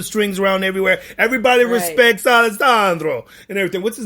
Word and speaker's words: Alessandro: nivola uh that's alessandro you gotta say alessandro alessandro alessandro novalda vidabar alessandro alessandro can you say like that alexandra elissa andro oh there you go okay yeah alessandro yeah that's good yeah that's good alessandra no no that that right there wasn't that wasn't good no no why not